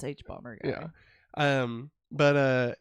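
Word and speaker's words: hbomberguy: guy yeah okay see I always want to pronounce it HBO yeah it's h bomber guy yeah um but uh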